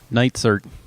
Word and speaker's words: Neitzert: greg how do you say your last name nights are with greg night sir who's running for City Council in sioux falls